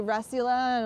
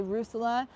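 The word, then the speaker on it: Russula: I say Rusula, and many people say Rusula. Most people say Rusula. I'm gonna always say Rusula. It's just how, I learned from reading it and pronouncing it in my head, so some things are gonna stay that way.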